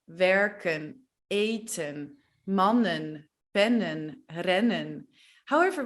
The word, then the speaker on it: werken: Well, yeah, we just decided to speak fast, don't pronounce the N and pronounce the last E as an E. Lopen, werken, rennen, eten.